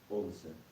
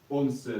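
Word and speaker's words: once: Онсе. Онсе, досе, трессе, Потом 14 и каторсе, 15.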